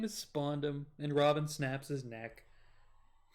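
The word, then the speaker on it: Spandam: His name is Spondum, and Robin snaps his neck. And it's awesome. That's funny. He deserves it, though. Yeah, because this dude's name literally rhymes with condom.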